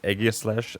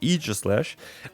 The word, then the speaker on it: Aegislash: I always would say Aegislash, but that is apparently not the case. It's Aegislash.